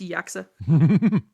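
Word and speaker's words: GYAXA: It's like a weird thing where the G is silent. So it's Yaka.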